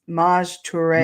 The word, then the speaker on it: Maj Toure: I was calling him Mage for the longest time because I'm a retired major. And when I see M-A-J, I Mage. And I was thinking it was that too. So that's what I called him because that's what people used to call me.